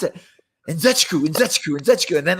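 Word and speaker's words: Nzechukwu: How do you pronounce it? Nzechiku.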